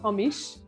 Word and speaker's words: hamis: than whatever is hungarian so we say hamish sound at the end and it means false